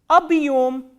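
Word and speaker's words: объём: The first word I am going to tell you is abhyom.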